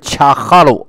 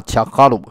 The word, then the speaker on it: 察哈尔: 这个察哈尔的蒙古人一般发音是恰哈鲁啊，恰哈鲁，意思是